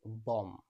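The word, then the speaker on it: bomb: হবে বি এর আগে এম রয়েছে এর সঠিক উচ্চারণ হবে বম বি এর আগে এম রয়েছে এর সঠিক উচ্চারণ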